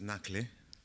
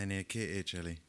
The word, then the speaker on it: Nakhle: So my name is Nakhle. Nakhle. Yes. Nakhle. N-A-H-K-L-E. N-A-K-H-L-E. But you pronounced it very well, because the real pronunciation is Nakhle.